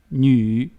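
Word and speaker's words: 女: último mujer o femenino, que se pronuncia ñu.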